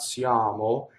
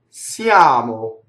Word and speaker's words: siamo: It's not, again, it's not English Y. It's not siamo. It's siamo up there.